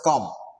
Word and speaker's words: QAM: And in case of QAM, sometimes we abbreviate it and we simply pronounce it as COM. Instead of telling QAM, we can simply say COM.